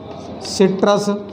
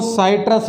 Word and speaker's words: Citrus: संतरा सिट्रस, सिट्रस, इसको साइट्रस भी बोल सकते हैं। स्पेलिंग ये है CITRUS, इसको सी भी बोल सकते हैं, इसको साई भी बोल सकते हैं, ये ट्रस, साइट्रस।